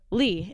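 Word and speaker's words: Leigh: Anyways, so I say Lee and she's like, okay. She's like a sorority girl. And then I see my cup, it's spelled L-E-I-G-H.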